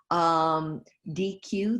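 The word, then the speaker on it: Deque: So consultancies include the Paciello Group, DQ, that's D-E-Q-U-E. I should say Paciello is spelled P-A-C-I-E-L-L-O.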